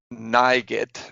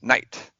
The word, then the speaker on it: night: made it so that NIGHT does not say nigit or whatever, it says night.